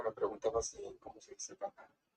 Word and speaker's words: caja: Creo que me preguntabas cómo se dice caja. Yo diría así, caja.